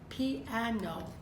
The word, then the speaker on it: piano: We're going to be looking at the word piano. Actually 3 syllables, 3 vowel sounds.